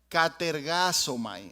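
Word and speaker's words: κατεργάζομαι: español se traduce como ocupados en griego se pronuncia catergazo Mai es esto mismo aquí pero aquí está transliterado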